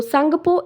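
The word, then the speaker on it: Tsangpo: river as सांगपो okay तो this सांगपो की spelling देखिए वेयर टी इज साइलेंट तो सांगपो इन तिब्बत एंड अरुणाचल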